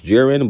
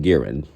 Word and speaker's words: Jiren: Actually could pronounce Jiren, but that's kind of funny, so we're just going to call him Giran, who was a humanoid pterosaur dactyl.